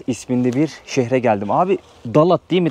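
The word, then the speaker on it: Đà Lạt: Abi Dalat değil mi telaffuzu buranın? Doğru söylüyorum. Evet. Evet. Dalat.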